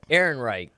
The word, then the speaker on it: Ehrenreich: Ehrenreich.